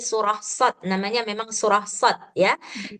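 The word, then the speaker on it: صٓ: Namanya memang surah shad ya. Jadi bacanya itu shad gitu. 6 harkat.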